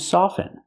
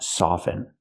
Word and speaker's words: soften: First let's talk about soften. Soften is a verb. It means to make something soft. And with the word soft, we pronounce the T. Soft. But with soften, we do not pronounce the T.